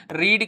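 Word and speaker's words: read: है क्या हो जाएगा ही रीड का सेकंड फॉर्म री रेड होता है लेकिन स्पेलिंग वही लिखी जाती है रीड रेड रेड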